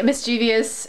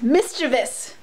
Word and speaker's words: mischievous: is like he's really mischievous and or look at listen to me english major saying it wrong it's mischievous i've been caught up on